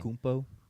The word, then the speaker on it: Antetokounmpo: listened, how did he pronounces his last name? Antetokounmpo.